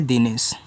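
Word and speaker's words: Dinesh: डी आई एन ई एस एच, तो आप यहाँ डी से दा करें, आई से छोटी ई की मात्रा दी, एन से आपका ना, ई से ए की मात्रा ने, यस और एच बनाएगा बड़ा सा, लिखा है दिनेश।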